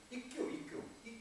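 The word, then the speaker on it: 一休: ikkyu 이렇게 발음해요.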